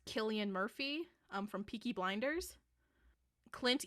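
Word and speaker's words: Cillian Murphy: uh number one I believe his name is pronounced Killian Murphy um from peaky blinders Clint Eastwood what Daniel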